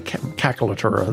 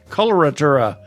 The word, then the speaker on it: coloratura: She was a cacolatura. There Yeah, we go. right. I say it right. Coloratura.